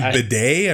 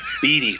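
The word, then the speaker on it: Bede: Yeah, you called him Bidet. I'm pretty sure he would beat you Yeah. up for that. So, Beatty, Boris Beatty.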